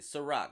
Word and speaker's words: SyRok: The Real SyRok. Let me lick my lips because it feels crusty. Okay, The Real, SyRok. SyRok is how you spell my name. You pronounce it SyRok, like the vodka, but I'm older.